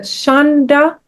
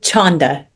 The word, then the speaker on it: Chanda: It's actually Chanda. Chanda. Yes. Am I saying it right? You are, yes. Yep. I'm a person, I never know how to say like a CH. It's okay. I want to learn. Oh, thank you. Yeah. We pronounce it Chanda as if it's spelt with an O in the middle.